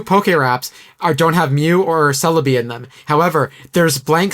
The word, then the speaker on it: Celebi: And Celebi, instead of saying Celebi, it goes Pokemon, but it's supposed to rhyme with Togepi.